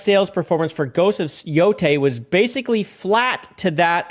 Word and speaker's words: Yotei: It's pronounced Yotei.